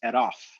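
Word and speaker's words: ⲉⲣⲟϥ: That changes the R into a syllable initial R, and syllable initial R's don't get dropped. Just like in like a Boston accent, syllable initial R's don't get dropped. You say pak, but you still ride a bike, right? You keep the R's at the beginning of the syllables. Egyptian does the same thing. So that suffix pronoun keeps that R in place, whereas if it's just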